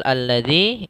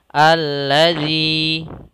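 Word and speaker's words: الذي: robakumadzi Kemudian pada lafal alladzi ini langsung ada alif lam di sini kita namakan dengan Alif lamamsiah yaitu Alif yang pertama tidak dibaca akan tetapi langsung kepada Alif yang kedua Kemudian pada lafal alladzi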